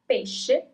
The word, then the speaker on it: pesce: Fish is pesce. And here it's very important that you write it this way, because if you say pesche, that means peaches. Okay, so that's a very important difference. Pesce, pesche.